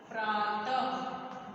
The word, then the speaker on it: प्रातः: विसर्ग का जो उच्चारण होता है यह आहा की तरह होता है। ठीक है, जैसे प्रातः।